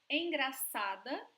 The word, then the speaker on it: engraçada: So, engraçada, here we have C cedilha, remember? That sounds just like an S.